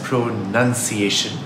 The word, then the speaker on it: pronunciation: Pronounce is spelled with an N-O-U-N as in the word noun. But the O is dropped in the word pronunciation.